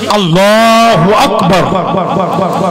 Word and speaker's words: আল্লাহু আকবার: আচ্ছা আল্লাহু আকবার অ্যাকচুয়ালি উচ্চারণটা কি? আল্লাহু আকবার।